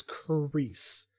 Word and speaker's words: Khrys: people's names, and so it pronounces her name as Khrys, not Chris.